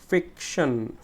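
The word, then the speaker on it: fiction: ফিক, ফিকশন, ফিকশন, এই যে ফিক বলতে গেলে আমাকে একটু জোরে উচ্চারণ করতেছে, ফিকশন, কল্পকাহিনী।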